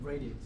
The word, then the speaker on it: radix: Radix.